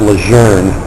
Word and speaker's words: Lejeune: The way the Marine Corps, when Marines are sitting at big bases like Camp Lejeune, Lejeune, which is actually pronounced Lejeune, and Camp Pendleton on the West Coast, Camp